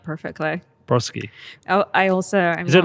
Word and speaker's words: Brodsky: You actually pronounced it like perfectly. Brodsky.